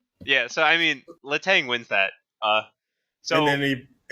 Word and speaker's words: Letang: It's Letang. Yeah, It Letang. has to be.